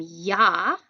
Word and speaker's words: Jahr: We've got im Jahr, y sound.